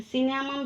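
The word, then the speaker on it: cinnamon: याचा त्याच्यानंतर बघा सिनॅम असा शब्द आहे तर सिनॅम चा स्पेलिंग आहे सी N double C एन सी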